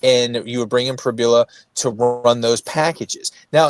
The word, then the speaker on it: Pribula: But uh Piboula, is that how you say his last say his name? He's in Missouri now. Bo Privbula. Pribula.